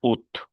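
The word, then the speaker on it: août: Así se escribe de esta manera, pero se pronuncia ut.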